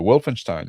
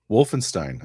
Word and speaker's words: Wolfenstein: Wolfenstein. Okay. Yeah. Wolfen. Yeah. The way you said is probably more correct, but the way Americans say it is Wolfenstein.